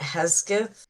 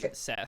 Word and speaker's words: Hegseth: One of them did a presentation about the Pete Hesketh, the war Pete person Hegseth. for the US. Hegseth Yeah, is the pronunciation.